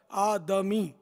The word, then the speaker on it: آدمی: وہ آدمی بولتے ہیں، آدمی. تو دال ساکن نہیں ہے، یہاں دال پر زبر ہے، آدمی صحیح تلفظ.